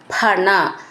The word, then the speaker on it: ഭണ: എന്ന് നന്നായിട്ട് ഊന്നി പറയണം ഭണ ഫ എന്നാവരുത് ഭ എന്നാണത് ഭണ വാരിത വാരിണാഥ ധ